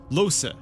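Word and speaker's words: Lohse: You know, they just said the name and I keep forgetting how to pronounce it. It's Losa.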